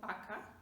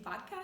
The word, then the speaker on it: vaca: Now, you might hear me say vaca, not vaca, and that's okay, because when you talk and you listen to Spanish speakers, you will notice that they pronounce V just like something in between, I would say, between V and B.